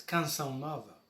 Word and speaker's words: Canção Nova: Je vais le prononcer à la façon portugaise, Canção Nova.